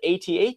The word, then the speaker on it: AT-AT: But I just can't call it AT-AT. I can't either. It doesn't work. So, I said that the right way to say it is AT-AT, but I mean, it's so here's the thing.